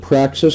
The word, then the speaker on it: praxis: use of this word Praxis spelled with an x-p-r-a-x-i-s and it sounds like the word practice and it's related to